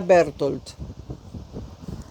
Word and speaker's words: Berchtold: Berchtold, porque estoy hablando de un austriaco o de un húngaro. En alemán sería Bertold, pero pronúncienlo como quieran, como puedan, ¿no?